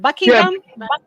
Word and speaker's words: Buckingham: No, shout out to Danny Harrison who says Buckingham. If I'm pronouncing, is it Buckingham?